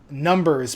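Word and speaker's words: Gnumbers: three which is Chelli who on the forarms is numbers but with a g in the front the silent G uh who also has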